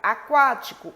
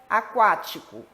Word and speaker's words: Aquático: Aquático, o U é pronunciado.